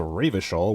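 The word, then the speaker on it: Revachol: feet rhetoric easy success he pronounces a ravishol with a hard k unlike other people authority medium success serious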